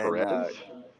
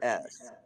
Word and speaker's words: Perez: Perez, Perez, and Perez? All right, Pizza yeah, Mike. well, it's pronounced Perez, but yeah, because in Israel, it's Peres.